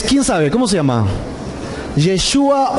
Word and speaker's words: Yeshua: El verdadero nombre es Yeshua. ¿Ok? Yeshua. Así que si queremos pronunciar bien el nombre del Hijo de Dios, sería en hebreo Yeshua.